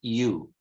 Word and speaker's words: ewe: It's pronounced ewe, an ewe, ok?